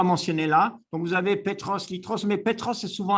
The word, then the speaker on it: Petros: Ils prononcent le P comme un B, hein. Petros, ils disent.